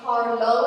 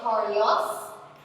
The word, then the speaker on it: Carlo: Now, it's very important to note that his name is Carlo and not Carlos.